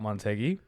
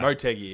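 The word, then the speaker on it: Motegi: So, you want to know something funny about Montgy? My whole life I only discovered this a few weeks ago. Uh, it's actually pronounced BGY.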